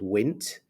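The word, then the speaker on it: Wnt: pathway for bone formation is called wit which is spelled w NT and in our bodies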